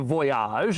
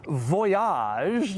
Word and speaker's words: Voyage: Let's start on the outside of the Voyage, and by the way, yes, it is pronounced Voyage, not voyage. They wanted to give it a little French flair, and they certainly got